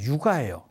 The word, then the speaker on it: 요가: 그거를 요가 수련이라고 그래요. 요가. 그래서 요가 유식학파라고 합니다. 요가가 옛날 발음이 유가예요.